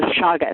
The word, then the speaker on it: chaga: That's called a chaga.